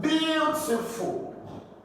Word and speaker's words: beautiful: Then you have beautiful. Beautiful. I'm going to say beautiful. No, is the first syllable here that will be stressed.